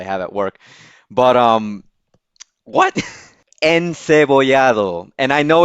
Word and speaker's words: encebollado: Encebollado.